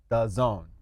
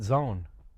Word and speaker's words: DAZN: But with the O, what? It would have made more sense. The zone, right? Yes. But when it's D-A-Z-N, I don't know what the fuck I'm supposed to... How do I pronounce this? Or just call it zone.